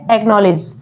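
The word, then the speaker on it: acknowledge: है next word है एक्नॉलेज एक्नॉलेज में जो सी है वो भी साइलेंट है जो के से पहले आ रहा है के से पहले आ रहा है वो सी साइलेंट है नेक्स्ट वर्ड है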